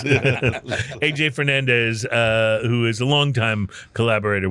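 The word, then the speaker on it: A.J. Fernandez: Does it rhyme with Hey Jay? Yeah, it rhymes with Hey Jay Fernandez. Hey Jay Fernandez, who is a longtime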